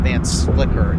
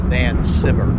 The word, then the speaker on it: Van Sciver: It's not Van Slicker, it's Van Sciver.